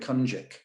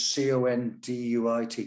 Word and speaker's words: Conduit: around the rocks it's i mean it's spelt and i never knew that as a kid we all called it kanjik but it's c-o-n-d-u-i-t conduit but if you're from